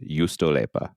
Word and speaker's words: juustoleipä: Juustoleipä. Okay. It's just the way it sounds, but it starts with a J. Apparently, the J is silent, so just Juustoleipä.